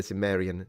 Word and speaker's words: Cimmerian: do with Conan the Cimmerian. Cimmeri. How do you pronounce it? Cimmerian in English, right? Because we say Cimmeri in Italian, but I'm sure that that's because we are Muppets with a C.